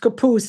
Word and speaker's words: Capouse: Now, but he is pronounced Capouse, and we say Capow Street in Scranton, so it got lost in translation.